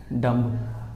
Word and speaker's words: dumb: आपने ये लिखा हुआ है DUMB, डम्ब। हम इसको डम्ब पढ़ते हैं, लेकिन बच्चों ये डम्ब नहीं होता, ये डम होता है।